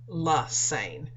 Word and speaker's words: Lesane: It rhymes with insane, Lesane, and that's my name, Dr.